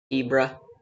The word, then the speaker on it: Hebra: I believe it's Hebra uh in Zelda's voice acted notes released for the Switch 2 versions. Uh, she specifically calls this Hebra. I believe that that is the proper way to pronounce it.